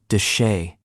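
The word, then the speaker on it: de Chelly: Canyon Deelli, pronounced duchay, has been continuously inhabited for over 5,000 years.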